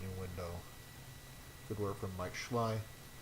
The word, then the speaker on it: Mike Schley: Good work from Mike Schley. Yes, that is how you pronounce his name.